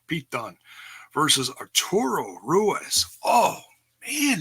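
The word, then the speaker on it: Dunne: Sheena Bay's leg defending against Candice larae Pete Doon Don dune I always say it wrong Pete Dunn vs.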